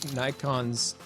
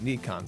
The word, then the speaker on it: Nikon: Technically, I think I heard that the Japanese, who should know because it's their company, pronounce it Nikon. So if that's the case, then it probably is Nikon, but I'm just